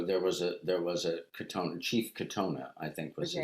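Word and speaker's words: Katonah: Catanoa? Is that how you pronounce it? Sorry? Is it Catanoa? Katona. Katona. Katona.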